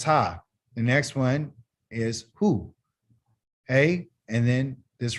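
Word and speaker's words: הוא: right and that's high the next one is who hey and then this right here is a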